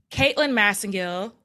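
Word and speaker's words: Caitlin Masingill: I have the expert here with me today Caitlyn massingill did I say it right you sure did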